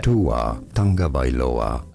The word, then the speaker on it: Tagovailoa: Tua Tagovailoa. Viola. All right. Yeah, we got the pronunciation down.